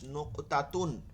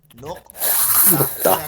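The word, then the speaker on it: نقطة: জন্য বলি নোক তা, নোক তা। এখন থেকে উচ্চারণটা ঠিক করবে, বাংলায় না শুধু আরবিতে। নোক তা, কফটা একটু ভারী হয়, নকতা, নোক তা, নোক তা, নোক তা।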